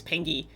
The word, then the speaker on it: Pingy: I think it's Pingy. A hard G.